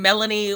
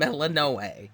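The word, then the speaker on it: Melinoë: ton of dialogue, and ain't nobody's saying Melanie or Akate. It's Mistress Hecati and Melano.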